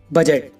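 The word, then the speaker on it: budget: बिल्कुल शांत रहता है फॉर एग्जांपल बजट अब इसमें देखो गाइस डी के बाद जी है तो डी साइलेंट है ऐसी और भी एग्जांपल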